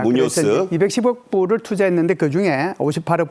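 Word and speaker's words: Muñoz: 그러면서 이제 현대자동차 CEO 겸 거기에 사장인 호세 무뉴쇼죠. 호세 무뉴쇼. 무뇨스. 발음 힘드시죠? 발음 잘 안 됩니다. 스페인어입니다. 무뇨스.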